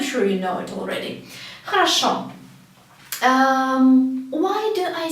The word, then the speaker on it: хорошо: Because O in Russian can be pronounced both as O and as A. And it depends on the stress. You can see this word хорошо.